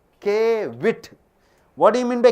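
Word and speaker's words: caveat: You pronounce it as Kevit.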